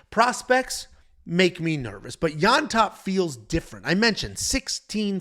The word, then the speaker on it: Llontop: James Llontop, and I'm writing this phonetically in my notes, Yontop, and that's just how